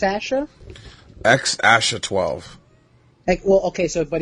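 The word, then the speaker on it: X Æ A-12: so it's pronounced Peck it's pronounced x12 I'm sorry it's pronounced X Asha 12x Asha 12 I honestly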